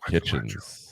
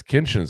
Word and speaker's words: Kinchens: Cameron kitchens oh yes kinchin I keep want to say kitchens because it sounds it's spelled just like kitchens almost except for an N instead of a t um out of Miami 6